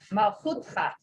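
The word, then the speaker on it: מלכותך: The next one, your kingdom, Malkuteha. Malchutcha. Malchutha. And your name, Shmecha.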